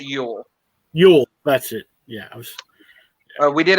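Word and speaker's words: Jol: a couple weeks ago it's j-o-l but it's pronounced euro yule that's it yeah we did a crossover with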